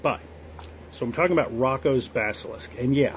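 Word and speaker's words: Roko: So, I'm talking about Rocco's Basilisk. And yeah, I pronounce it Rocco.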